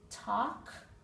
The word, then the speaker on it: talk: now the unexpected sound all of these four words have a silent L talk walk half calf the L is not pronounced in any of those words I will meet you